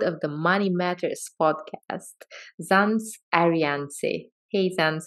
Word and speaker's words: Zands Adriaanse: for another episode of The Money Matters podcast zams ariance hey thanks how are you hey Uncle I'm